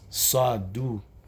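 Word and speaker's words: صدُقات: But there's another word that's very similar, almost exactly the same, but one vowel is pronounced differently, and it's only used 1 time in the Quran, and that is saduqaat.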